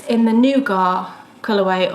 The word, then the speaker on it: nougat: in the Nougat colourway, or as I would say, Nugget, but we're not going to go into that because I clearly say it wrong. But it's the Why? Because you don't say it like that. I always called it Nugget when I was growing up and eating it. Yeah, so do I. But it's not, it's Nougat.